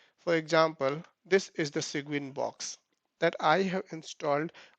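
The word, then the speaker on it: Cygwin: Server Unix box so I have installed a sequin application sequin so let me type it here segment this is how we pronounce it so you can install it on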